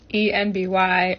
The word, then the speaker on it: enby: ENBY, or NB, is actually a phonetic pronunciation of NB for non-binary.